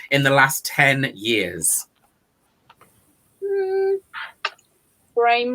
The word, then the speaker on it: Brame: Brame rhymes with fame.